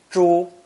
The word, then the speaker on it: 猪: Pronounce first tone, 猪, 猪.